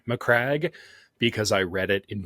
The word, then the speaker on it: Macragge: Fun fact, I didn't know how to say Macragge because I read it in books for 8 years until I heard someone else say it, and I go, oh. What did you say? I was pronouncing it Macridge.